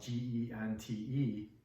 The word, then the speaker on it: gente: word pending it spelled g en te but you pronounce the G like an H so it sounds like gente the word China in